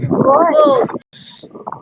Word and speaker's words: goes: Goes. Goes. Listo, la E no se pronuncia.